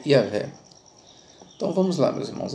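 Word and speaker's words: Yahweh: tradução do hebraico do tetragrama e o rei que se pronuncia yavé Então vamos lá meus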